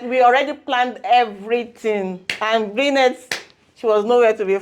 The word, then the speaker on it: Brinnette: I hope I pronounce it right with Brinnette. It's Brinnette.